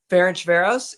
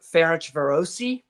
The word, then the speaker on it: Ferencváros: Ferencváros is the American pronunciation. If you're going over to Hungary, there's an I at the end, so you might see it written that way, and it'd be like Ferencvárosi, but like or yeah, it's a little bit different.